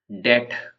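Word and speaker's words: debt: एस कनल not phonetically डेट इसमें B silent डेट है spelling में बी है लेकिन यहां पर उसको डेट बोला जाएगा ये लिखा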